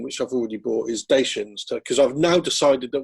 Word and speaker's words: Dacia: So definitely the car company pronounces itself Dacia, and that's from Romania.